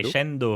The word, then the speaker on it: crescendo: crescendo. Est-ce que Ouais. tu peux prononcer crescendo à l'italienne, s'il te plaît? Mes oreilles me saignent. Crescendo! Voilà, j'aime mieux ça.